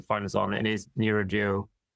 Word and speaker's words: neuroduo: It is neuroduo. Should be spelled NEURODUO, neuroduo.